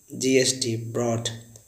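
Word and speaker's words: brought: जैसे कैच का कॉट है, वाई का वॉट है, एक अब ब्रिंग का ब्रॉट है, BROUGST, ब्रॉट। थिंक का थॉट है, THOUGST, थॉट मैंने विचार, इसमें GS साइलेंट है।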